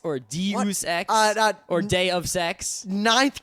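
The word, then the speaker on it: Deus Ex: in D Machina yeah apparently some people say dece X or de X or day of sex ninth grade Greek literature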